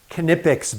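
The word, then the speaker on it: Knipex: It is pronounced Kipics, by the way.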